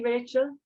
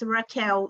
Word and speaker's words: Raquel: It's just that my name is pronounced Raquel, so I thought you were calling out for Richard.